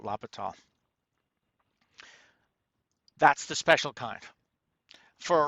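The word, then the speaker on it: L'Hôpital: right either but uh it's a french or swiss name so i kind of get the impression you don't pronounce all the last um letters not sure i'll just call it lopital that's the special kind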